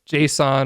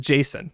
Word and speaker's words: JSON: And then as a final note, I pronounce JSON, right, JSON, JSON, Leviosa, but some people do pronounce it Jason, and they're wrong. I'm just kidding. People pronounce it however they want, but I do say JSON.